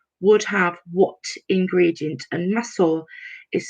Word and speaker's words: masoor: And masoor is spelled Masoor.